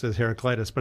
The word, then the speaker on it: Heraclitus: I always pronounce it as Heraclitus, but it's probably Heraklitos is probably what it is in Greek.